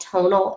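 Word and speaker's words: Tonl: It's called Tonal. It's spelled T-O-N-L.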